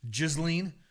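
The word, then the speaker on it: Ghislaine: So everyone's like throwing these in my DMs the way to pronounce Giseline. The jizz check. Giseline. It's like freaking Dolly Parton song, Jolene. Giseline.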